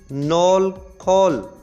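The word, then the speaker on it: knol khol: एक समय गांठ गोभी नार्मल खोल यह के साइलेंट है पहले में तो इसको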